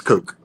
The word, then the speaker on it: Koch: How do you say it? Cook brothers? It's Coke. It's Coke.